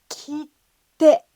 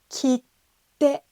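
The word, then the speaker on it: 切手: この発音が難しいですね。切手、切手。ここに小さいつが入ってます。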